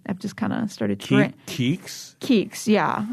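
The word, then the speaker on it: Keeks: just kind of started KS KS yeah it's a derivative of Kiki wait hold on KS K like if you were going to spell it phonetically k e e k s yes KS KS KS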